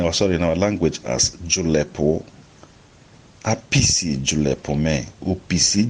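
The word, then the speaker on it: julepu: ju l EP u julep Oh now the you the first you and the e have falling stress max from left to right the last shoe loves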